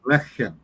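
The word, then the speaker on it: לחם: water is this word, lachem. Any idea what that could possibly mean? Executed upon water would be in feelings or emotions or... Actually, I believe they pronounce this one lechem.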